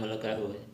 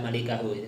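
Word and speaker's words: مُلْكَهُ: baca kitab kan tahu tuh bacanya bukan illa malikahu tapi illa mulkahu seperti itu sebagaimana juga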